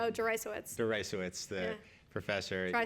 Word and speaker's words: Deresiewicz: So you pointed to the William, how do you pronounce his last name? Oh, Notarize, the professor.